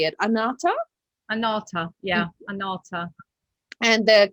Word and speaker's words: Anahata: ana anata right how do you say it anata anata yeah anata and the color frequency of